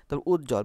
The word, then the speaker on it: উজ্জ্বল: বটার উচ্চারণ হলো না উজ্জ্বল বানানে বর্গ জবজ বর্গ আছে সেজন্য এ বটার উচ্চারণ হলো না পার্শ্ববর্তী বানানে তালবস রেফ